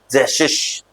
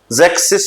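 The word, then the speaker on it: sechzig: 6 की स्पेलिंग होती है SECHS, लेकिन 60 में S नहीं आएगा तो इसको क्या रीड करेंगे? जैशिश। जैक्सिस नहीं बोलेंगे इसको, जैशिश रीड होगा, जैशिश।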